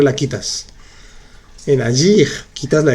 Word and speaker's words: agir: Sí se pronuncia. Se dice finir, agir, choisir. Pronuncias bien la R al final.